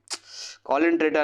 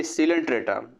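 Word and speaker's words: सीलेंट्रेटा: नहीं कॉलेंट्रेटा नहीं, सिलेंट्रेटा, कॉलेंट्रेटा बोल रहे हो क्या, स्पेलिंग मिस्टेक हो जाता है। सिलेंट्रेटा होता है, सिलेंट्रॉन इसके अंदर पाए जाते हैं, एक कैविटी की तरह काम करता है।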